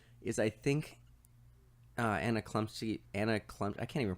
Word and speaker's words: Chlumsky: is I think Anna Chlumsky Anna Klump I can't even pronounce her name Anna Chlumsky it's like CHL um s KY I think she was